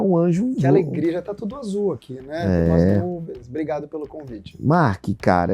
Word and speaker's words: Marc: anjo Obrigado pelo convite marque cara eu falei errado começar falando que as pessoas me chamam de de marketing de Marques Já me chamaram até de Márcia que é mudo Então falou certo João é assim comunicação